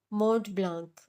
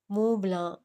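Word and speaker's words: Montblanc: मोंट ब्लांक, उसने नाम पढ़कर बताया। मुंह ब्लां। वो कब में गंभीर सी आवाज में कुछ सख्ती से तस्वीर की गई। टी और सी साइलेंट है।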